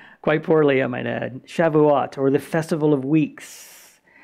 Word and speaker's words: Shavuot: Is that how you say it, Lee? Shavuot. S-H-A-V. Yeah, Shavuot. That's how you would say it in Hebrew.